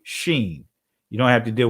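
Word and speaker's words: שׁ: left it'll make us it'll be pronounced seen if it was to the right it'll be sheen you don't have to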